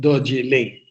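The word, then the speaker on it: Dorje Ling: about the magical mystical region called doji lay it's a Tibetan well the Brits couldn't pronounce it and coined the paste chilling tell now imagine the backdrop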